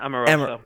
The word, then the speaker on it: Amoroso: Is it Amoroso or Amoroso? You said it right the first time, yeah. Amoroso.